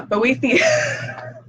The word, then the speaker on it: Boethius: Boethius. Yeah, Boethius.